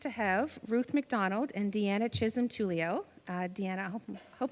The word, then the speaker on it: Deanna Chisholm Tullio: so we're pleased to have Ruth McDonald and Deanna Chism Tulio uh Dean I hope hope I'm pronouncing your name correctly perfect uh so a